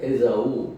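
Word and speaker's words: Esaú: 물론 이제 다 아시다시피 형은 에서, 브라질에서 에사우 이렇게 얘기합니다.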